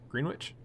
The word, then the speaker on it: Greenwich: Greenwich? I think it's pronounced Greenwich.